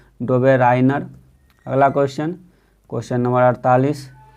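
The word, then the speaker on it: Döbereiner: में पहचान वाला था जो इसका उच्चारण होता है दुबे राइनर अगला क्वेश्चन क्वेश्चन नंबर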